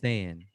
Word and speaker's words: sehen: I'm not say- pronouncing that right. Listen. Say auf Auf Wiedersehen. Wieder. Yeah. Zan.